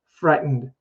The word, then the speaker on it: frightened: together frightened frightened frightened and the t is so soft we don't even hear it it's like not fry tend like british speakers will emphasize the t sound but if you're learning american english it's going to be frightened frightened so that mo was